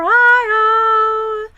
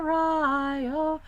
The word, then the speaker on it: Rio: we're bound for the Rio Grande. I have to take you to task there, Gwyneth. I know somebody's told you it's Rio. It's not. It's a Spanish word. It's Rio.